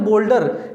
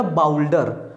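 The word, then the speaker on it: boulder: पत्थर होता है बोल्डर, इसको पढ़ेंगे बोल्डर, लेकिन उसकी इंग्लिश टीचर ने प्रोनाउंसिएशन में हिंदी में क्या लिखा था, बाउल्डर।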